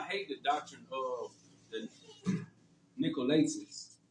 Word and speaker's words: Nicolaitans: How you pronounce that? Right, Nicholas, the Nicolaitans. Oh, Nicolaitans.